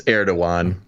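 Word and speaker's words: Erdoğan: It's Erdogan is how it's pronounced in Turkish. Yeah, the G is a W.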